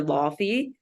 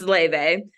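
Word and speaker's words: Laufey: Jack like Le it's most Americans call her ly but her name is Icelandic so I just realize that it's pronounced Le she's more so of a jazz artist as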